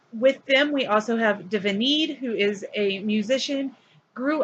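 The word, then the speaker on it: D'Vinid: Divinid is spelled D apostrophe Vinid. Just so you know, it's not Davidid or something, it's Divinid.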